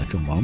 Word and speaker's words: Chao Phraya: Phonetically, it should be called the Chao Phraya River, but in Chinese, it's commonly known as the Mae Nam River.